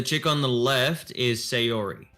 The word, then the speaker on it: Sayori: So the chick on the left is Sayori. Sayori, okay.